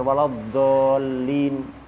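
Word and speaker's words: ٱلضَّآلِّينَ: Di antara yang banyak salah adalah dhad, dibaca dha, waladhdallin. Jadi dha salah ini. Atau waladhdallin ya. Jadi dal. Khata salah. Jadi dibaca yang benar waladhdallin, dhad, bukan dha, bukan dha.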